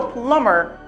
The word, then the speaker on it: plumber: again I need a plumber I need a plumber the letter B is completely silent cookies the letter B